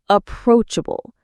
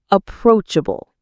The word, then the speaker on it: approachable: Approachable. The stress is on the second syllable. Approachable. Say it with me. Approachable.